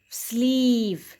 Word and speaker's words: sleeve: Sleeve. Here E is silent.